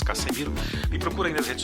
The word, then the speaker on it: Cassemiro: O pessoal fala KZ, mas se escreve KC com 2 S. Casemiro.